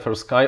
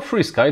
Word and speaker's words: FrSky: i'm pablo spechalski and for sky or freesky depends on the pronunciation and the region of the world you are living in doesn't really stop to